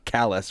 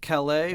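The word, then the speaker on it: Callais: Is it Calais? Are they saying it in the French way? Or are they saying callous, which is the mispronunciation of our co-host's name? Well, I think it is pronounced Calais, Okay.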